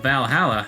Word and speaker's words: VA-11 Hall-A: gotta check that Valhalla the name sounds silly and a bit hard to pronounce good thing it's actually called bal holla the funny numbers and letters are just a code anyways I visited this